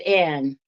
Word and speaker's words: Annie: I pronounce it Anne. But it's spelled Annie.